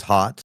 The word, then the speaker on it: Haught: My last name is hot. So that's where hot sauce comes from. Uh spelled like that.